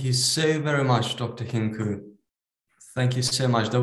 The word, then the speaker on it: Hincu: So I just wanted to, first of all, thank you, Dr. Hincu, if that's a strong C, right? Yeah.